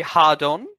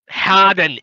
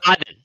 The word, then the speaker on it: Hardon: Harry Hardon? Harden, it's pronounced hard. How the fuck aren't you cunts getting this? Oh, it's Harden.